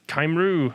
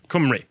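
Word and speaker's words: Cymru: played its welsh so i apologize played kymeru camry kumri yeah it doesn't look like it's pronounced that but it's welsh i have been corrected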